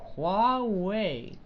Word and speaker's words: Huawei: I just got it I know it's like white they pronounce it Huawei that's walkway wah-wah we